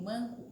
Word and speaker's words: manco: Por exemplo, do piancó, a sílaba que a gente pronuncia com maior intensidade é o có, e no manco é o man.